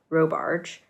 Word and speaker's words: Robarge: So the dress is called the Jade Dress by Natasha Robarge. Wait, how do you spell that? R-O barge, like a boat.